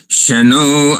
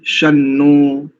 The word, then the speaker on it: शन्नो: शन्नो, यहाँ तो स्पष्टता से ही शन्नो ही उच्चारण होना चाहिए। यहाँ पर तो शानो नहीं आना चाहिए।